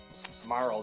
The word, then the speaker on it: Marle: Like, how many people said Marley instead of Marl? Oh, I definitely said Marley. And I'll still say Marley because it's a superior name, damn it. Marl just sounds like a biker's name or something.